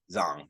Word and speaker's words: Zhang: Okay, I always mispronounce the first name. Zhang.